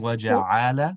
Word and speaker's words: وَجَعَلَ: So instead of saying وَجَعَلَ, the ayn is not going to have a stretch, just a short sound.